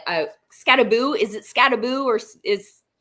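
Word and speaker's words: Skattebo: who I default to at all times for pronunciations. Scataboo. He does have it. It's in the background. So Scataboo B.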